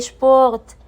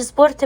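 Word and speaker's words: Sport: والاس بي شب زي شبورت. مش سبورت بقى زي الانجليش، لا، شبورت.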